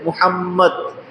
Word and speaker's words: মোহাম্মদ: চেষ্টা করে দেখুন মোহাম্মদ। দুই ঠুট না মিলায়ে আপনি পড়তে পারবেন? যেই নাম উচ্চারণ করতেই দুইটা ঠুট মিলে যায় সেই নামের